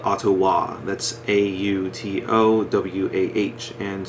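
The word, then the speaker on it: Autowah: band called sum and a ottawa-based man called ottowa that's a-u-t-o-w-a-h and soom is spelled s-e-u-m in case you want to look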